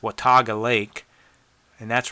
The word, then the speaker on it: Watauga: hill, going down to the, I think it's pronounced Watauga Lake, and that's right where the Boots Off Hostel is.